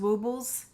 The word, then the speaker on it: Woobles: You're right, because it is W-O-O instead of W-O-B-B. It is woobles. How can I remember woobles instead of wobbles?